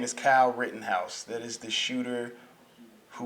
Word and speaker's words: Rittenhouse: on tv i'm sorry i kept getting his name wrong his name is kyle rittenhouse that is the shooter who was defending himself